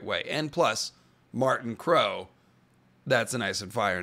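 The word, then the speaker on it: Krog: Sorry to be stickler, but my name is pronounced and means crow, not croc. Oh, I would have said crog, but oh, it's crow. Yeah, I would not have known to pronounce K-R-O-G like crow.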